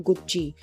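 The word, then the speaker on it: Gucci: duplicate गुची belt मिली गुची एक Italian fashion brand है इसका प्रोनाउंस एशन होता है गुची सो इसको इंग्लिश में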